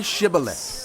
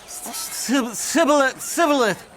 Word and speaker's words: Shibboleth: they said, All right, say Shibboleth. if he said, Sibboleth. because he could not pronounce the word correctly, they seized him and killed him at the fords of the Jordan.